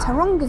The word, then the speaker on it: Taronga: you can see from the signs, goes to Taranga Zoo. Is that how you say it? Tanga. Let me just check that I'm saying that right because Tonga. Yeah, Taranga Zoo.